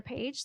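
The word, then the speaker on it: Phee: And it's funny because my name is instructor page. That's actually my last name. It's spelled P-H-E-E, which is really confusing.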